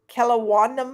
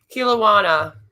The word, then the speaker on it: Kelowna: So, a Kelowna man. Is that how you say it, Beth? Kilowana.